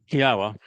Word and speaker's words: Yahowah: Yahwa, which is the proper pronunciation of the name of our Elawa, God as directed